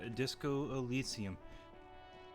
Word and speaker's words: Disco Elysium: I'm back with Disco Elisium. That's how it's pronounced.